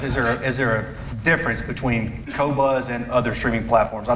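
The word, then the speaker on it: Qobuz: The Q-Boat, how do you pronounce it? Cobuzz.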